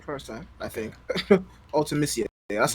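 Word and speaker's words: Ultimecia: favorite um final fantasy villain is uh is altemisia or is it ultimacia i'll actually yeah you got right first time i think ultimacia that's how i was pronouncing it um oh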